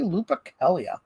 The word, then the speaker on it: Lupercalia: Lucien was telling me about that yes happy Lupercalia oh that's how it's pronounced though okay Ark typical got it I